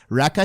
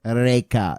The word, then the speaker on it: Rekha: I'm like, Rekha. He's like, Reka.